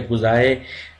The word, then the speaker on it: quasi: की जाती है, जब कॉजी experimental design participants are not randomly assign two groups. जैसे हैं वैसे ही इसे कॉजी भी पढ़ा जाता है या गुजाए, दोनों ही प्रोनाउंसिएशन यूज़ होते हैं.